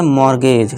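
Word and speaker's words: mortgage: इस तरह से मोर्गेज। ठीक है दोस्तों? मोर्गेज पढ़ेंगे। टी हमारा साइलेंट है।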